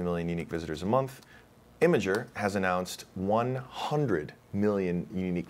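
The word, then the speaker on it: Imgur: see what about um I don't know how you pronoun you pronounce it imer imager imager yeah that's another one imager congratulations to Allen um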